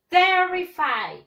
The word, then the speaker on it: terrified: Terrified. The stress syllable, la mayor fuerza de voz, le vamos a dar acá.